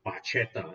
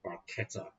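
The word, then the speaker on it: barchetta: uh it's spelled b-a-r-c-h-e-t-t i used to call it bacheta which i think sounds cooler but it's italian so it's called barcata uh 911 speedster uh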